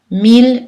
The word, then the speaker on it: mille: Deux L sont prononcées L, habituellement, culturel, L, pâle, mais ILL sont prononcées en général aïe, sauf dans les trois exceptions, mille, ville, tranquille, et tous leurs dérivés, comme village, million, tranquillement.